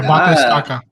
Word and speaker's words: Bate Estaca: We got Jessica Andrade, nickname Bate Estaca. Did I say that right, Justin? Yeah, Bate Estaca.